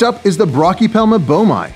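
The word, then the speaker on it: boehmei: is the broy pelma bomi sometimes that's pronounced bam depends on who you are they have a vibrant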